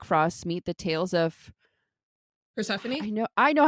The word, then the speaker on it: Persephone: The stories of Jack Frost meet the tales of Persephone? I know how to say this. Yes, Persephone.